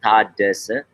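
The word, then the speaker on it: Tadesse: Yeah, basically Taddese. So it's it's a phonetical language, Amharic, so you can just say it's a three-letter Tadese.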